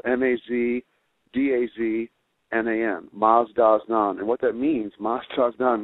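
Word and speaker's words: Mazdaznan: And there's the Masdasnan Association out of Canada currently is publishing that book, and it's spelled M-A-Z-D-A-Z-N-A-N, Masdasnan.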